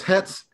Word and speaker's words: het: very sharp snappy okay whereas hetz is gonna be more like holy like or imagine somebody with some really bad breath trying to talk to